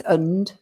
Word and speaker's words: and: And that's again with the two and, to one, because the and is weak. It's not and, it's und.